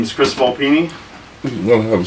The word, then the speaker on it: Volpini: Volpini. Correct. That's how you pronounce it.